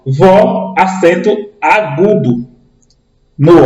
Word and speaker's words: vó: Veja, quando nós pronunciamos a palavra vó, a vó é aberto.